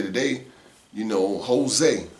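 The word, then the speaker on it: José: No different than how you could say today, you know, Jose is spelled with, not with a H, but with a J. The J has an H sound.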